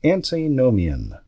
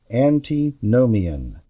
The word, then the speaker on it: antinomian: let's see here so the first word is antinomian antinomian it is spelled a n t n o m i